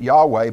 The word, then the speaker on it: Yahweh: as we also talked about and that's we pronounce it Yahweh but it was really h y wh and